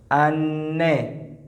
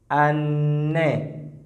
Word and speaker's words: anne: A, A, Anne, Anne. Now, when two letters come together, we pronounce them with emphasis. We pronounce the sound with emphasis.